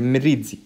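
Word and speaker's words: Mirizzi: دكاتره الميريدزي هذا عالم طلياني بهي وجماعه يقولوا ميريدزي في بعض دكاتره يعني يمتحنك في اللغه مش لغه هي لكن يقول لك معلش انطقها ترى بالضبط هي ميريدزي لان عالم تاعها طلياني في الاساس والعالم هذا مخترع كذا ديزيز او مكتشف هالبا ديزيز.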